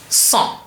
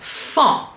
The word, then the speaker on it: cent: And the en, which is en, together makes it become a nasal vowel en, cent. So we have cent, 100.